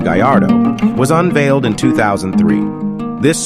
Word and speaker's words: Gallardo: body size with this goal the Gallardo Spanish pronunciation Gallardo was unveiled in 2003.